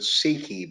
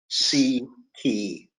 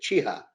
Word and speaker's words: Siki: Well, I pronounce it Siki, but nobody else does. So Siki. Interesting. Siki. But if you were Polish, you would say Cicha, which means Okay. quiet or still in the Polish language.